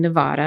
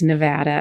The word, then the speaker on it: Nevada: as a child and Nevada is pronounced Nevada if you're a Spanish speaker and it actually means